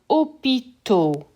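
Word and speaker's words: hôpitaux: change opitar to become opito so this aux sounds like o le travail work becomes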